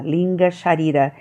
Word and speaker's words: linga sharira: linga sharira já dirá escreve igual como lá em cima do carona shakira-linda é como se fala l i n g a linga sharira é o duplo etérico